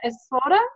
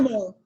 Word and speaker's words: Moore: us, along with Espoda. Is that how you say it? More. Moore. Oh, okay, Moore, sorry. Like we want more.